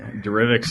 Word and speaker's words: Derivix: Derivix is correct. Yes, it is a derivative of derivatives. Yeah, Derivix.